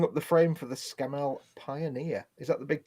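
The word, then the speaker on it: Scammell: Bench building up the frame for the Scamel Pioneer. Is that the big tank transporter? yeah, it's Scamel Pioneer. I just said Scamel.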